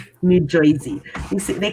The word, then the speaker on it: Jersey: From New Jersey. New Jersey. You see, they call it Jersey. They don't call it Jersey. They don't pronounce R's in New Jersey.